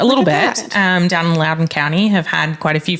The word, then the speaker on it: Loudoun County: clearly it smelled like it shouldn't be pronounced like that it does it's an l-o-u-d-o-u-n so it's the same OU yeah it's Loudoun County um I think I